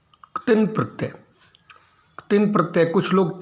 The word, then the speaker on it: क्तिन: क्तिन प्रत्यय, कुछ लोग तीन प्रत्यय भी कहते हैं, कुछ अक्तिन प्रत्यय भी कहते हैं, लेकिन मेरे गुरुजी ने बताया है कि क्तिन प्रत्यय होता है, आधा क है, उसका जल्दी से उच्चारण होता है।